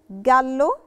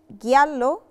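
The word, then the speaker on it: giallo: جدا جدا من بعض جلو جلو جلو جلو نطقت تجلو مش جالو علشان احنا اتفقنا ان لو في للوتر وبعدها في بكاء انا ما بنطقش خالص طلعت رقيق فعلشان كده الكلمه بقت جلو مش جالو جالو اللي هو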